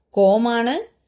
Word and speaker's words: comb: ചീകുക എന്ന് പറയുന്നതും അവർക്ക് കോമാണ്. ചീപ്പ് എന്ന് പറഞ്ഞു കഴിഞ്ഞാലും അവർക്ക് കോം തന്നെയാണ്. അപ്പോൾ നിങ്ങൾ വിചാരിക്കുക സ്ക്രീനിൽ COMB എന്നല്ലേ, ടീച്ചർക്ക് കണ്ണ് കാണുന്നില്ലേ അല്ലേ, അവിടെ B ഇല്ലേ? പക്ഷെ ഇല്ല മോനെ, ഇല്ല മോളെ, B ഉച്ചാരണത്തിൽ ഇല്ല.